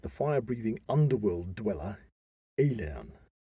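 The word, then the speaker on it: Aillen: fire breathing underworld dweller alien that sounded like alien it sounded like alien but it spelled a-i-l-l-e-n and one alien way of saying that well so he faced the fire breathing underworld dweller alien or alien who would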